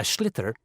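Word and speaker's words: sliotar: this ball called a schlitter that's s l IO t t a r so it's not spelled the way it's pronounced you hit it into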